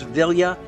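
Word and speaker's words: Vilya: here is that ring I know I've been mispronouncing it I've been throwing an end in there but it is villa which also allows him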